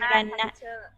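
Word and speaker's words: ระนาด: Do you say Ranat or Ranad? How do you call this Thai xylophone? Ranad or Ranat? What is the correct pronunciation? Okay, Ranat.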